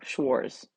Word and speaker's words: Schwartz: controls by Jack Schwartz there's no T So Schwarz once again I hope I pronounced his name correctly all right um before